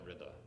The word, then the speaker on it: Reza: I'm also going to use the Persian pronunciation. I'll just say Imam Reza instead of Ali Reda. So I like Reza, it sounds better than Rida.